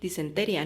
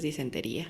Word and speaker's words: disentería: Disenteria, ¿no? Porque no tiene acento en la I. Disenteria. Sí tiene. Tiene acento en la I. Según yo. Sí. Ah, sí tiene. Entonces es disentería.